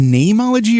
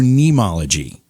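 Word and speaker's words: Neimology: word name n-e-i-m but i pronounce it name like a normal name you go okay so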